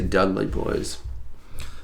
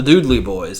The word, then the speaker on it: Dudley: I always say Dudley Boys. It's the Doodley Boys, actually.